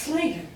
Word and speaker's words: Schlater: I would pronounce Slater.